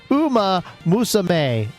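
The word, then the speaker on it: Uma Musume: He says it's pronounced Uma Musame.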